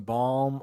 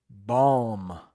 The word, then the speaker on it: balm: Like, they dropped the bomb on the country. She used some balm on her lips. The context will definitely help with the pronunciation. Balm.